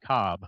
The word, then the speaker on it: Kolb: because I think it's Kolb. So former Eagles and Cardinals quarterback Kevin Cobb. Yes, I know. It was Kolb. Yep. But he pronounced it Cobb.